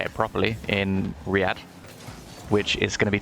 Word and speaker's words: Riyadh: Gamers 8 being a LAN in Saudi Arabia, say it properly, in Riyadh, which is going to be taking place in August, so a bit later in the year, and well, 3 months from now-ish.